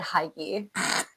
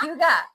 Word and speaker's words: hygge: I almost just said Hygge. Did I just say it wrong? Hyoo-guh. It's Hyoo-guh.